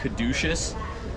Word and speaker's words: caduceus: this yeah so that's um corrected me from pronouncing this wrong i believe it's called the caduceus this uh is what mercury holds himself but